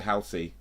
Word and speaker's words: Halsey: Don't know about you Brits, but we pronounce her as Halsey. Oh, okay, so maybe I've been saying it wrong. So I said Halsey, didn't I? What did I say? Halsey. Yeah, I said Halsey. Okay, so it's Halsey.